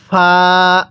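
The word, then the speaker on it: فاء: হ্যাঁ আমার সাথে পড়ুন ফা আরেকবার আমার সাথে পড়ুন ফা ফা টা উচ্চারণের সময় মুখ দিয়ে হালকা বাতাস বের করবেন পড়ুন ফা হ্যাঁ আরেকবার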